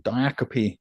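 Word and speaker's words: diacope: Well, I wanted to share one called Diiacopy. Um Diiacopy, which is the correct pronunciation.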